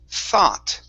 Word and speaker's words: thought: Okay, so instead of saying sat, this is a Sa, TH. It's you use your tongue to pronounce this. So it's thought. thought, There you go. Yes, place your tongue between your teeth.